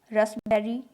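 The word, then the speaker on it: raspberry: लेकिन कुछ common random word हैं जिनमें पी साइलेंट रहता है, जैसे Q, cupboard, रसबेरी, receipt. Receipt यानी रसीद, नेक्स्ट है आर।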